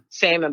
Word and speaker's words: salmon: You know, we don't pronounce the L, the salmon bites, with your jambalaya.